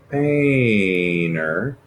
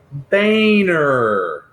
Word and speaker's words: Boehner: away John Boehner and that is pronounced Baner Baner I don't know why the